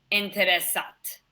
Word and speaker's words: intéressant: Simone a des amis intéressants. Intéressant. Intéressant. So remember, I-N or I-M, the pronunciation is going to be like a duck.